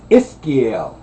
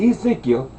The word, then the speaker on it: Ezekiel: And when you say Ezekiel, it's Iskiel, not Ezekiel.